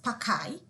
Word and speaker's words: Pad A Queen: It is pronounced as Pakai, and not Paki. It is pronounced as Pakai.